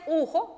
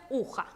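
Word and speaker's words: ухо: Así es, uja, ujo, pero allí dice ujo, pero se pronuncia uja, oreja.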